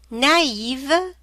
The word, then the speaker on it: naïve: And when you find it, you have to pronounce each vowel separately. E, Noël, Christmas. I, naïve, like naive or innocent.